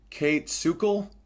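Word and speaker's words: Kayt Sukel: And the other one is called This Is Your Brain on Sex by, let me pronounce this properly, Kate Sukel, Kaytsukel.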